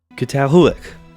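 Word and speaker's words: Çatalhöyük: Catalhuic.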